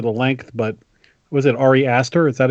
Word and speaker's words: Ari Aster: I also was hesitant about this movie because of the length, but was it Ari Aster?